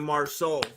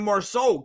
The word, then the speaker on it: Marceau: You thought I was gonna say Marceaux or more socks or something like that.